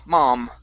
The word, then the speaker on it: mom: Instead of right here, instead of mom with an O, it's a ma. Mom. Mom.